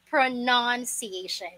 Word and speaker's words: pronunciation: pronoun pronunciation all right again it's pronunciation it is almost it sounds the same with the word pronoun pronoun or in filipino listen carefully open your ears pronounciation pronounciation all right pronunciation you may repeat after